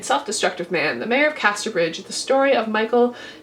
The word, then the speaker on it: Casterbridge: I often mispronounce this as The Mayor of Castlebridge. I do realize this. It's just the way my eyes read the word Casterbridge, but I am getting it right this time, guys.